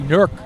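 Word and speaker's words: Newark: they pronounce it locally nerk nkk that's the local pronunciation I'm from New relle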